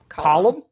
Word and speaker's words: Colm: The scary neighbor, Colm? Column. Like a column that supports a house in the basement? Yeah, that's how you pronounce it.